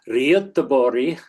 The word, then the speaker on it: Göteborg: Then he did some work while he was at Gothenburg, which, having studied Swedish, I'll pronounce it the Swedish way, Göteborg, a nice town in Sweden on the southwest coast.